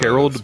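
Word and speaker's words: Harald: like the Swedish uh haral but but it's a different pronunciation it's like Harold it's a Harold except there is no o it's a so it's like it's like the Swedish version of it I see even though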